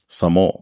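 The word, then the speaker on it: Sammo: titled wheels on meals it starred s s spell it for me s a m m o Samo Samo hung Yun bio and the Best Known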